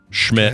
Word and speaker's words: Schmidt: Schmidt, okay. which rhymes with shit, which I think is funny, just because he's a bum doctor, right?